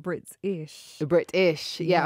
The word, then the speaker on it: Britishh: And I'm excited you said Britishh. Britishh. Yeah, yes. I've broken it into two words. I've made sure that I'm saying it correctly.